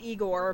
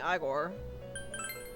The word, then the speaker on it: Igor: so I I'm almost certain that maverick is right it's especially pronounced Igor but I just tend to read phonetically sometimes so they keep saying I bore alright so we need